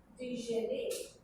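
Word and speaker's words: Djenné: There, this is the World Heritage Site called Déjeuner, D-J-E-N-N-E, with a French, what is called a French accent. We did that to Ida, A, pronounced. So, this World Heritage Site of Déjeuner, which reflects a very elite Eurocentric vision of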